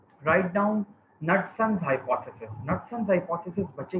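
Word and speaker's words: Knudson's: इसके अंदर जो के है तो दैट इज साइलेंट, कनटसन्स नहीं कहना आपने।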